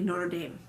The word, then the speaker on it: Notre Dame: 22nd Carter speaks at Notre Dame or for those of you that pronounce it a little differently Notre Dame it he presents a